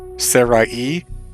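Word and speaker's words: Serai: actually sure about that the symbol on the i in her name actually denotes that the two letters are not meant to be pronounced together so her name would actually be more like Sarai e but that's a lot more complic ated to say so I'm just going to keep saying Sarai cuz that's a lot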